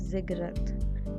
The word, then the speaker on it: ziggurat: word i have underlined this is pronounced as ziggurat and zegra was the